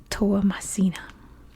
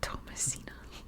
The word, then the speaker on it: Toamasina: And how you say it's salty is Toamasina. At least in American English, that's how you pronounce it. So the capital is Toamasina. In French, it's pronounced Tamatav, but here we call it Toamasina.